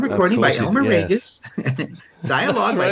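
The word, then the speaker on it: Raguse: and memory uh and he says it's like two first names Ray and Gus so in fact you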